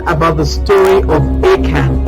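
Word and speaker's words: Achan: you in joshua 7 about the story of akan akan is spelt a-c-h-a-n a-c-h-a-n and he's telling the story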